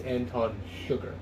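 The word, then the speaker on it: Anton Chigurh: on the book it's anton sugar it's pronounced with an sh not a ch and it's i guh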